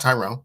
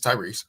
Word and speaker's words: Tyrese: And by the way, his name is Tyrese Maxey. He is the 6th man of the year, so put some spec on his name. Don't say his name wrong. It's not Tyrone. It's Tyrese.